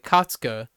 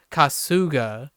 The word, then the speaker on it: Kasuga: words and names like katsuka is remarkably great because the emphasis would still be on the first syllable it's not kasuga which would be the weirdest way an American person would read that in my opinion like kasuga which a